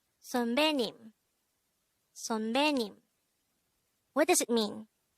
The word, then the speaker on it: 선배: 선배. 선배. This is pronounced as a two-syllable word. The first syllable is son, second syllable is be.